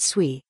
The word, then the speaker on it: Sui: of sui coin conclusion what is sui sui pronounced sui is a decentralized layer one proof of State